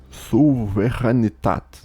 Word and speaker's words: Souveränität: Vier Kapitel zur Lehre von der Souveränität.